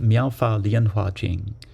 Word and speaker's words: Myoho Renge Kyo: of the common era would be pronounced Myoho Renge Kyo. Myoho Renge Kyo is the Japanese way of pronouncing these five Chinese characters.